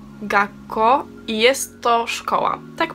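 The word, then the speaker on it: 学校: kandzia po prostu słówko to słówko wymawia się Gaco i jest to szkoła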